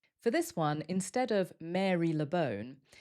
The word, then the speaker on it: Marylebone: For this one, instead of Marylebone, there are a couple of different ways that we pronounce it. They're quite similar, but a little different. The first way is Marylebone, Marylebone, or Marylebone, Marylebone.